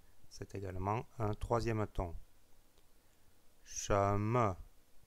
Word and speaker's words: 什么: Sheme, sheme, c'est un 2e ton suivi d'une syllabe non accentuée. Sheme, che, donc che, le 2e ton, le ton montant, sheme, et puis le ton non accentué pour la syllabe me.